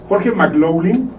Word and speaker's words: McLaughlin: Y bueno, nuestro invitado especial, McLaughlin. Sí, ahora sí lo pronuncié muy bien.